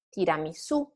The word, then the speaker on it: tiramisù: and stay flat and then rise at the end. So caffè, città, università, tiramisù. This is just a matter of intonation.